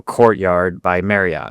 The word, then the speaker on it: Courtyard by Marriott: So, Courtyard by Marriott, actually, that's how you say it.